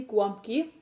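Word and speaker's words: gołąbki: a Polish food today is going to be guam key it isn't that spelled like that but it is pronounced like that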